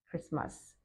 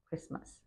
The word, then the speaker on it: Christmas: The T is silent, so don't forget that. Christmas, Christmas.